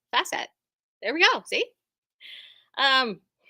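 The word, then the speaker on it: Fassett: page it states that his name rhymes with safe asset C facet there we go see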